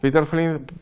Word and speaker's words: Peter Flint: Bien, este proyecto lo llevó a cabo Peter Flint. Peter Flint, o mejor dicho, Peter Flint, porque es danés, no se pronuncia Peter, sino Peter.